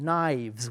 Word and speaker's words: knives: K knife and also the plural of knife is knives knives with a V sound knives one knife two knives